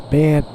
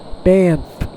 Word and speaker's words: Banff: I call ex- sometimes pronouncing M in there, Banff, but it's Banff Banff.